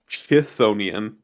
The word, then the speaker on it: chthonian: get three generic generic it's a chthonian is uh how I believe that's pronounced and I only know